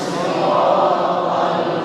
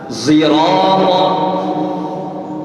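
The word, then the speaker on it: صراط: Kalau riwayat yang lain ada yang bacanya dengan sin, bukan sad. Sirata. Kalau riwayat qiraat Hamzah bacanya seperti za. Zirata.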